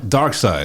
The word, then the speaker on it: Darkseid: Let's talk about my man how do they pronounce it? Darkseid? Desaad or Darkseid? Darkseid.